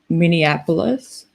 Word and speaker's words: Minneapolis: talks about from North Minnesota, but it's North Minneapolis.